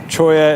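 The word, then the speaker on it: cholla: in the wrong place choya is spelled c h o l l a it is a a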